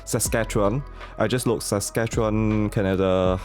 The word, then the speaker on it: Saskatchewan: Yes, that's how you pronounce Saskatchewan.